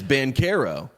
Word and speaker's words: Banchero: and the italian way the italian way to say his name is ben carro and that is the that is what he is going with and tuesday night that